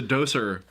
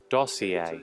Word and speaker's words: dossier: because I was like what the is a doser and I like never use that word side what's what is pronounced as and so when I looked up the Webster soon when they pronounced it for me they were like dossier and I felt so